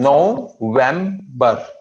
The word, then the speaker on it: November: N as in November. Three syllables. There are three syllables.